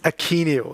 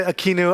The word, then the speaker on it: Akeneo: I have to switch the English pronunciation of Akeneo. It's Akeneo. And if you say Akeneo, I will do that too, okay?